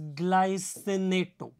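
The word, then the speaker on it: glycinate: alloy ग्ला senate and इट is pronounced as ग्लाइसिनेट ग्ला Senate it is again a बाइ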